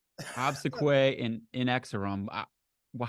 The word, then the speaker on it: Inexorum: how do you say is it inexorum well I actually it's funny I used to say uh in X room but uh I think I've heard it said both that way and in exorum